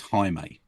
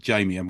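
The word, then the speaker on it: Jaime: or no that's wrong it's spelled Jamie his name's haime because he's Mexican right so if you said Jamie somebody might some pain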